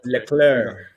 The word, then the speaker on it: Leclerc: and um landlord what's this how do you pronounce his name i think leclair like larry ferrari next season um i think